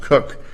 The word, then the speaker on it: Koch: It said the cases we relied upon in Cook, and I understand that KOCH is pronounced Cook, did not address a